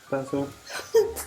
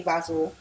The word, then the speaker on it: basil: Basil. So in the UK, they usually say basil. And maybe because I lived in America for quite some time, I do say basil.